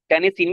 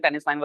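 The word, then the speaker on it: Tennessine: Okay जी टेनिसिन भी पढ़ सकते हैं। टेनिसाइन भी पढ़ सकते हैं। टेनिसाइन से मेरा ख्याल है कि बेटर प्रोनाउंसिएशन होगी।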